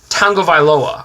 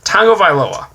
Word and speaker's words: Tagovailoa: I'm going to make sure I pronounce this right. Tagovailoa. I asked an actual Hawaiian on how to pronounce that, so fuck ESPN. Tagovailoa.